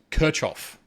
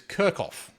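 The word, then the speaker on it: Kirchhoff: down here you do not pronounce it as kirchof if you pronounce it as kof all I'm going to say is bless you okay it is kirkoff okay if your teacher says kirchof slap to the face all right so anyway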